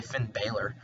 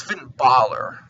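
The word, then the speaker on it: Bálor: Finn Baylor Finn baller some people get really mad if I say Finn Baylor It's Finn baller you know with the whole pronunciation in the comments and tell me how to pronounce it but I say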